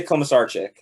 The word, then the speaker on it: Komisarchik: me hear the real how do you really pronounce it uh i say coma sarcic okay dude i was like man i'm gonna